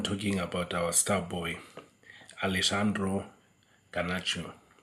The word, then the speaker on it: Alejandro: star boy Alexandro gachu some people think he's called Alexandra but in the spelling there's a j so I don't know if some of us English speaking people H do we know how to pronounce it we just say Alexandra kashio but he called Alexandro kashio the J is a bit silen I hope if I